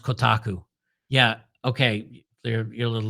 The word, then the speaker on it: Kotaku: Young King says it's pronounced Kotaku.